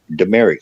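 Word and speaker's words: Dumaresq: called the Merrick now a lot of people go demeric oh how do you spell that and they go it's d-u-m-e-r-e-s-q yeah and there's an American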